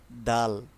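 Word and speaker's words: دال: দাল। দাল যখন আমরা উচ্চারণ করি তখন দালের উচ্চারণটা একটু পার্থক্য থাকবে। যেমন দাল হচ্ছে শক্ত থাকবে। যেমন দাল দাল দা জাল।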